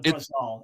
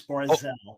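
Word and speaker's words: ברזל: Well, the Hebrew is Barzel. The Hebrew is Barzel. Anyone who knows Hebrew knows it's Barzel. It's not Brazal. It's Barzel.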